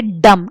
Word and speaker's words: dumb: word is pronouns but when we say dumb b word is not uh pronounced it is silence so we say dumb not dumb dumb is